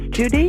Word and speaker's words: Judice: white supremacy uh Professor the last name is Judy it rhymes with Denise Bernice Maurice anyway investigated miscegenated marriages